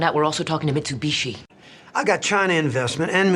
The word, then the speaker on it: Mitsubishi: take a moment to think and the right pronunciation of this brand is Mitsubishi I am sure most of you got this one right gal found out we're also talking to Mitsubishi I got China investment and Mitsubishi kicking my